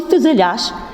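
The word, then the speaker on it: фюзеляж: не ставимо у слові фюзеляш тому що буква ю тут позначає звук у і пом'якшення попереднього приголосного у рядку б апостроф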